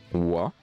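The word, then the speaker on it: は: Mais le deuxième wa, watashi wa, ça s'écrit en ha. Mais on prononce wa.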